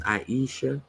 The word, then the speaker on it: Aisha: Aisha, pronounced Aisha. We are fire.